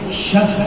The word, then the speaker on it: شفع: 2 رکعت نماز، صحیح تلفظ نماز شفع ہے. ہم لوگ نماز شفا کہتے ہیں، شفا کوئی لفظ نہیں ہے. شفا کے شفا ہو جائے گا تو شفا ہے. صحیح تلفظ شفع ہے.